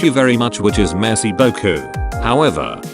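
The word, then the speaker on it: merci beaucoup: is messy Boku however you have to be careful pronouncing it as I found out that I was pronouncing it more as messy Boku making it sound like the French translation of saying thank you nice butt she got a good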